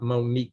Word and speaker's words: Monique: I like Monique because it rhymes with unique.